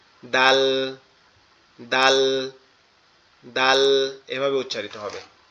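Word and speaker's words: دال: জিহ্বার আগা সামনের দুই দাঁতের গোড়ার সঙ্গে লাগবে, লেগে উচ্চারিত হবে। ঠিক আছে? দাল, দাল, দাল, দাল, এভাবে উচ্চারিত হবে।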